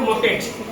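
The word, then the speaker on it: market: वैसे इसका जो मार्केट का वैसे मार्केट मार्केट तो हम लोग कहते हैं लेकिन उसका जो शुद्ध प्रसिएशन है मॉकेट क्या प्रोसिएशन क्या है मॉकेट ठीक है मॉकेट मार्केट का शुद्ध प्रसिएशन है मॉकेट ठीक है आर साइलेंट रहता है क्लियर बहुत ऐसे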